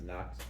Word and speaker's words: Nox: knox games okay and a n-o-x i pronounced knox uh this was a